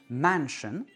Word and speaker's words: mansion: Le mot mansion où I O N est prononcé un, mansion, et le mot Britain, Britain, où les lettres A I N, inaccentuées, sont prononcées un.